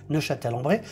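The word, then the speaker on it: Neufchâtel-en-Bray: Alors, ça s'écrit Neufchâtel, mais ça se dit aussi Neuchâtel-en-Bray.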